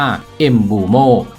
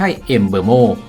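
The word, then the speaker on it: Mbeumo: ของ แฟน บอล ว่า นาม สกุล ของ เขา ออก เสียง ว่า เอ็มบูโม่ ไม่ ใช่ เอ็มเบอร์โม่ อย่าง ที่ คน ส่วน ใหญ่ เรียก กัน ดาว เตะ วัย 25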